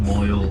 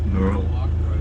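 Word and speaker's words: Maoil: So castle, well, it's spelled M-A-O-I-L, but pronounced Moyle or Murl.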